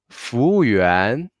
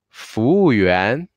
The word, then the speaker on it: 服务员: A little bit faster will be 服务员 In Chinese, if there are a word formed by 2 pinyin, 3 pinyin, or maybe 4 pinyin, we will only put the stress on the last pinyin with tone mark. So in the word, we have a 服务员 here. Yuan is the last pinyin with tone mark. So we will make yuan with a little bit more stress.